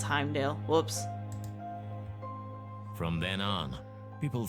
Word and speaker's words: Heimdall: It's Heimdall.